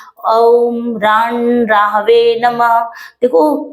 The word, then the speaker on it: ओम: ओम नहीं बोला जाता अ उ म इन तीनों से मिलकर ओम शब्द बनता है तो ओ रंग राहवे